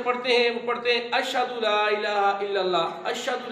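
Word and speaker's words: أشهد: درست ہو جائے گا۔ آپ نے اس طرح پڑھنا ہے اشہد، ہا اس میں ظاہر کرنا ہے، اشہد ان لا الہ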